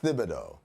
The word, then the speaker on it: Thibodeau: here's a question okay he says it's Thibodeau that's how he pronounces his own name but I have a